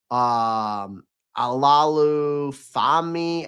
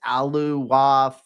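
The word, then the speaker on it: Oluwafemi: Alalu Fami out of UCLA. It's Aluwafemi.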